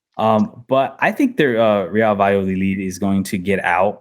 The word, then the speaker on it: Valladolid: Vi- The double L's is a Y. yeah. Valladolid.